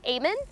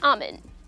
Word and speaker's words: amen: amen now in english people either pronounce it as aemon or amin now this phrase is